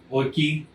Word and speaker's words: Oickle: It's Vernon, and his last name Oikel. Sorry, definitely butchering it one way or another. It's spelled Oickle. So, anyways, but yeah, so you need to check out some of this stuff.